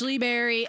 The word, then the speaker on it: Shle Berry: you can find all those on Spotify it's Lee Berry s-h-l-e I'll even give you some time to